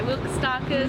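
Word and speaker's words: Will Kostakis: My fave book from my which is also, I've chosen The Sidekicks by Wilk Starkers.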